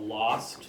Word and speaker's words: Lawste: I have a newer duo project called Lost, which is spelled Lawste, and it's a project